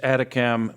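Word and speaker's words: ATACMS: in the Ukraine six atacam missiles that's the way the acronym is usually pronounced for these things uh were launched from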